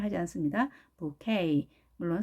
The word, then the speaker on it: bouquet: 강세가 뒤에 있습니다. 여기에 있죠. A에 있다는 얘기죠. 그래서 이렇게 발음이 돼야 되겠죠. bouquet. 자, bouquet가 아닌 E까지 살려주시고 뒤에 액센트가 있다는 것 차이점이죠.